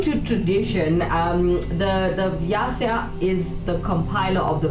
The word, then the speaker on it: Vyasa: anyway guys according to tradition um the the vyasa is the compiler of The Vedas yeah I was using there was no water so there is one so it's spelled v-y-a-s-a vyasa I'm saying right yes so this is